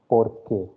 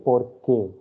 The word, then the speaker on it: porque: And this is pronounced as porque. For you. Por Q, nahi, por K. K is the last part.